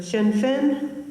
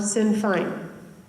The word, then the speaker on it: Sinn Féin: The political parties: number 1, pronounced 2 ways, either Sinn Féin or Sinn Féin.